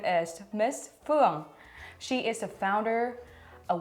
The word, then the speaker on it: Phuong: I introduce my name, because it's not easy to say Phuong, and usually if you see the word, people would usually say Phuong. So I would say you would spell it like typhoon. So Phuong. Phuong, like typhoon.